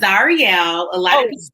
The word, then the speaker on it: Zarielle: I know it's exotic, but it's Zarielle. A lot of people call me. Plot twist. That is, now see, it's Zarielle.